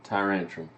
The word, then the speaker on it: Tyrantrum: no is it tie ranch on my ransom tyrantrum okay okay yeah yes what I liked about